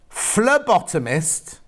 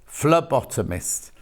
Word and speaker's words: phlebotomist: that's Lovely isn't it it's pronounced as an F phlebotomist hang on flare bottle Mist thank you Jill oh yes pH not p phlebotomist oh well never I